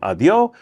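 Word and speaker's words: adiós: them on the street feel comfortable saying adio you don't need the S on the end I'm not soft pronouncing the S it's really not there and uh you really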